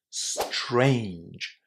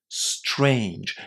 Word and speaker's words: strange: Did you know that when t and r are together in English, the letter t is pronounced as a ch?